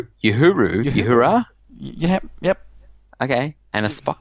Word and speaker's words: Uhura: How do you pronounce that? Oh, is that Uhuru? Uhura?